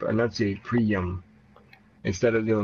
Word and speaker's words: Priam: How'd you spell the pronunciation? Pre-Prey-Yum. Pre dash what? Yum. Pre-yum. Yeah, that'll work. I could probably get rid of the Y and do Priam.